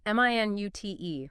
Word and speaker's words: minute: This one depends on stress. Right. Stress on the first syllable, M-I-N-U-T. That's the unit of time, 60 seconds. Stress on the second syllable, minute. That's the adjective, meaning very, very small. Tiny. So minute versus minute.